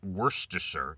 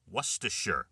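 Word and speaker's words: Worcestershire: The key is you have to drop the first R and soften the CE. So it's not worster, it's worer sauce, it's wersher.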